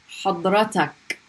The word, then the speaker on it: حضرتك: So let's do حضرتك.